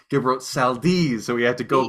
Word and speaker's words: Seldes: We thought it was Seldies. Gilbert Seldes, but then we listened to the radio show, the clip where Jack is doing it, and it's Gilbert Seldes.